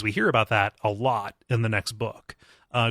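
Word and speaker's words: Lud: is to talk about L which rhymes with crud and the Grays and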